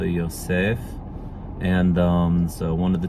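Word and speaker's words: יוסף: So in modern Hebrew they'd say Yosef, just like Joseph. But in biblical Hebrew you still emphasize the last part of the name, so Yosef.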